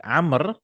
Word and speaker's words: Amr: But Amr will write with a waw. This waw is not pronounced. It's just if there's no tashkil, if there's no fatha dhamma kasra, it's difficult to identify. So they'll put this wow, Amr. So we'll not read this one.